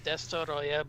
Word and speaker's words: Destoroyah: just you know the official technical name is D Roya but Dyer is fine that's the original the